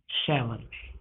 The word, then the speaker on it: Chevrolet: It will be called Chevrolet. So, there are many words which are to be pronunciated accurately.